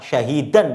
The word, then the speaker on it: syahidan: Oh, kurang tepat. Syahidan bacanya.